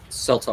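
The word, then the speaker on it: Seltar: it yeah I wanted to know how to spell it too it's s-e-l-t-a-r Salter okay uh it's also Iberian and it's in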